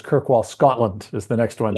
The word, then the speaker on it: Kirkwall: I know how to say this one it's kirkwall Scotland is the next one so how did